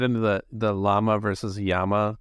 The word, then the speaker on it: llama: the the llama versus Yama pronunciation debate it's anyone ever correct you like is it yeah Double L it's a Spanish word it's a double l so technically it's Yama and a llama would